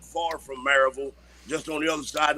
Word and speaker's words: Maryville: It's Maryville, not Maryvale. Right, Maryville. You're right. I get told that a lot. My Maryville. daddy still lives right there in Nyota, not far from Maryville, just on the other side of the mountain.